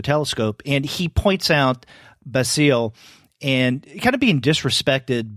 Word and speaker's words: Basile: in this story is, would you pronounce his name in French Basile, or is it Basil? Basile. Yeah. Basile.